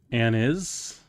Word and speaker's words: anise: you already liked it an is is that really how it is an is technically it's pronounced Anis Anis no choose life